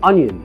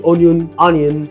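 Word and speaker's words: onion: انيون مش اونيون، ما يبقاش بالسعر ده وتنطقها اونيون.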